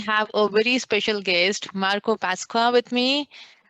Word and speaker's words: Marco Pasqua: a very special guest marco pasqua with me is that how i pronounce your name that is how you pronounce it congratulations you got it right the first time awesome awesome so yeah